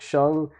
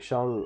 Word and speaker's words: sheng: But as far as sheng, I think sheng rhymes with hung. I think sheng is the best way to do it.